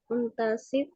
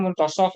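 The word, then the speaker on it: منتصف: Fawajada rojulaini fi muntasofun Muntasif muntasif at-tariqi ya. asyara ahadukum biyadaihi liyukifa Ya boleh as-sayarah. bacanya muntasaf ya. Tadi ada juga yang baca muntasif. Muntasaf boleh ya.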